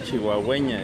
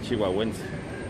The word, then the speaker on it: chihuahuense: Pero no se dice chihuahüeña, es chihuahüense.